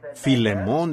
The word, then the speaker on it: Filemón: Así que, Filemón, dijo alguien allá atrás, lo cual creo que es la pronunciación correcta.